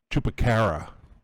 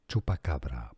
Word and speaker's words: chupacabra: Tupacara. How is it how do you say it? Hold on. Let's see it. Chupacabra.